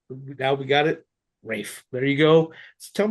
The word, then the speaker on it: Raph: Ralph, you are the one who started it, right? Yeah, it's actually pronounced Rafe. I know it's spelled wrong. Rafe.